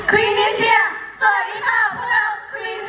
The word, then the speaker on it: QViNT: ชัด ๆ นะ คะ QV I N G อ่าน ว่า Queen นั่น เอง ค่ะ ว้าว